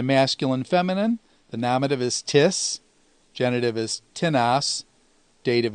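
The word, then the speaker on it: τίς: and accusative is tena you'll notice that the accent falls on the first syllable when there are two syllables as opposed to the indefinite pronoun which has it on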